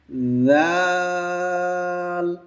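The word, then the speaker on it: ذال: আচ্ছা জি আছি ঠিক আছে খ দাল দাল জাল জাল এই জাল হরফটাও খেয়াল করে উচ্চারণ করতে হবে আমরা ছা যেভাবে উচ্চারণ করেছিলাম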